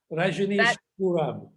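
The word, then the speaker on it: Rajneeshpuram: What's the right pronunciation? Rajneesh Puram.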